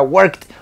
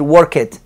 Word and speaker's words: worked: de una t acá Entonces sería worked walked y digamos que climbed no agreguen esa sílaba extra eso no va ahí sigue siendo una sola sílaba as sea en pasado